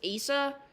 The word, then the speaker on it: Asa: I know it's pointless, and I shouldn't really be using it, but currently our next name is, I'm not sure how to pronounce it, but I believe it's Asa.